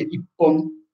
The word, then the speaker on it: Ippon: di un oggetto lungo, quindi Ichi più Hon si legge Ippon Nihon per due, Nihon due bottiglie, Sambon tre, ho finito le mani ma non il vino, e via dicendo.